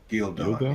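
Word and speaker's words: Ghealdan: Gildan? Gildon, yeah. Some of the pronunciations are weird.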